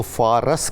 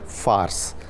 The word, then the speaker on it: فارس: ایران کو کہتے ہیں، اس میں ریس ساکن ہے۔ اس کو فارس کہنا بالکل غلط ہے، اگر ہم اس کو فارس کہیں گے تو اس کا مطلب ہے گھڑ سوار، تو درست تلفظ ہے فارس۔ اس کو پارس بھی